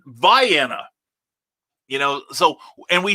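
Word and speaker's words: Vienna: where we pronounce c-a-i-r-o-k-row where we pronounce v-i-e-n-n-a like the sausages or the ultravox song um we they pronounce it viana you know so and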